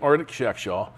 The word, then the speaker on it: Artaxerxes: Nehemiah 2, verse 1, it came about in the month of Nisan, in the 20th year of King Artaxerxes. Believe it or not, that's how you're supposed to pronounce that name.